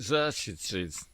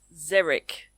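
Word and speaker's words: xeric: Is it Zes? No. No, it's Zerich.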